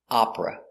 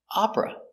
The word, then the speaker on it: opera: like Opera three but it's not pronounced with three it's pronounced with two syllables Opera Opera they're singing opera I